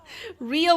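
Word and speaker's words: Reo: Rio is spelled R-E-O, but yes.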